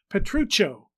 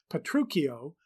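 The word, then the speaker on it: Petruchio: he spelled it and expected us to pronounce it with the CH as in English three in the first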